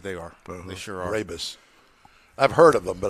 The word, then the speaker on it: Brabus: Brabus. I've heard of them, but I don't know anything about them. I've always mispronounced it as Barabbas.